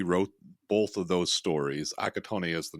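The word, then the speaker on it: Accattone: after reading the plot, because I've never seen Assiatore, I think is how it's pronounced. Um, and they feel very similar. Have you seen Assiatore and everything like that? It's Akatone. Akatone, Akatone.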